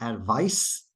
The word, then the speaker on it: advice: Okay, the noun form advice ends in an S sound, so it really seems like it should be spelled with an S, but it's spelled with a C, and the one that's